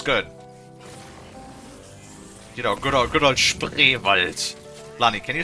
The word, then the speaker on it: Spreewald: You know, good old Spreewald. Lani, can you say Spreewald? Spreewald? Try again. Oh, say it slowly, please. Spreewald.